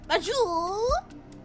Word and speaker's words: force majeure: Say it like French. Majour. Like that.